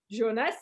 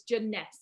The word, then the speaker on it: Jeunesse: people right it's like how do you say the name is it jones is it jeunesse like all these different um ways of saying it guys it's jeunesse okay so let's get